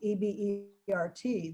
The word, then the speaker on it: Ebert: name uh is a bear a french name e-b-e-r-t they pronounced it ebert and um so you know